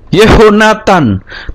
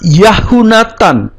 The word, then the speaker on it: Yehonatan: artinya pemberian Tuhan nah tidak dibaca yahunatan tetapi berubah menjadi yehonatan ya Sebagai contoh ini